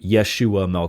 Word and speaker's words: Yeshua: back then it would have been the yeshu Yeshua mesc is how you would have pronounced that this is here in Yeshua 12